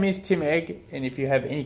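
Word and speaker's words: Egge: And I probably shouldn't be picking on your name here, but because my last name's Egg. But it's not spelled Egg. It's spelled E-double-G-E. Still pronounced the same though.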